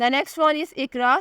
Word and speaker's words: IQRA: The next one इज़ इकरा, spelling है IQRA।